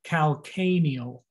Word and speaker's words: calcaneal: heel your heel is your cal k-neal emphasis on the a the second a calcaneal region sorrel is for